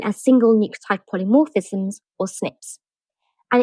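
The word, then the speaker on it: SNP: So let's start with the word genomics and break it down right down to single nucleotide polymorphisms which we abbreviate to snips when we pronounce it.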